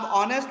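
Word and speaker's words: honest: अब ऑनेस्ट में एच जो है वो साइलेंट है, तो यहाँ पे भी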